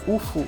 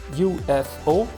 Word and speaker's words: UFO: A palavra UFO em inglês, ela pode ser pronunciada de duas formas diferentes. Ou como um acrônimo, acronym, tá? Ou como um inicialismo, initialism, tá? Em inglês. Então, ela admite essas duas pronúncias, UFO ou UFO, tá?